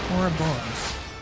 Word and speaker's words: Ouroboros: I learned how to pronounce it. Ouroboros.